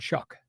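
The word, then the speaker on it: Shough: is a kind of is it s o u g h s h o u g h oh but it's called shock shock y all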